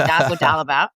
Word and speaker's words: dazodalimab: People in the Sjögren's community have been calling this DAS because no one could quite pronounce it, but dazodalimab.